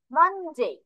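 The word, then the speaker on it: Monday: তারপর মানডে, এভাবে মন উচ্চারণ করবো না, মানডে এভাবে, ঠিক আছে?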